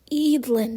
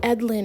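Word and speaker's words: Eadlyn: YouTube review and I found out that it's pronounced edlin not edin or whatever I was saying and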